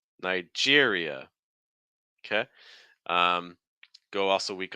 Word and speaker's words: Nigeria: um our next one Nigeria stress on Jer again we're finishing with the e sound with the schw at the end so watching out for that uh uh Nigeria Nigeria okay um go also